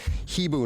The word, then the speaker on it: Hibu: By the way, that's pronounced Hibu Networks, and the Chief Information Officer of Hydro Ottawa.